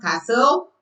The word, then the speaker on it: castle: T is silent in some words after S.